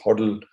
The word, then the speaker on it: hodl: used in crypto investing called hodl pronounced huddle which basically stands for